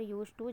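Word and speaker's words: used to: जब हम यूज्ड टू बोलते हैं तो वर्ब का आखिरी अक्षर डी का उच्चारण या टी की तरह होता है और चकि अगला शब्द भी टी से शुरू होता है तो लगता है कि एक ही टी है। अरे इसका उच्चारण यूज्ड टू जैसा लगता है।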